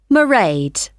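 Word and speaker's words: Mairead: see my assistant married sorry how do you spell that it's m a i r e a d merade okay got that it's not a name I'm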